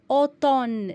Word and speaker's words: automne: Automne, la même chose. M est muet au milieu du mot.